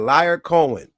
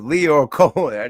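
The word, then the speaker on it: Lyor Cohen: That said liar Cohen. It's Leo Cohen.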